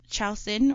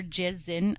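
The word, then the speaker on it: Kyal Sin: one on march 3 chaucin or jason i've i've heard like different pronunciations two pronunciation you have different pronunciations so it's either ciao sin or jazzin but she's known as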